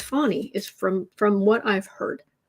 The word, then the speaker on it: Fani: Now, apparently, Fani Williams in Georgia, her name, although it is spelled Fanni, it actually is pronounced Fani, is from what I've heard.